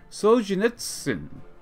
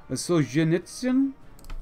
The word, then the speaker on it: Solzhenitsyn: 17th October under Alexander Solzhenitsyn. Which, I did ask you guys yesterday whether I pronounced his name correctly. Some of y'all said the ZH is more like a G as in genre. Solzhenitsyn?